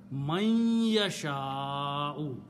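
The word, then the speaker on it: مَن يَشَاءُ: to point out, that when meem and noon and ya come together in the tajweed, you pronounce noon gunna. Man yasha'u, not man anymore, man. Okay, so that's another rule of tajweed, and for that purpose they usually put a shadda here. Man yasha'u.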